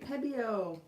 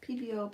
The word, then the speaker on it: Pebeo: I'm going to say it right. Pebeo. PBO, Pebeo. You say PBO, I say Pebeo.